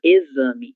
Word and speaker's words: exame: É por isso que a gente fala exame e no examen, certo?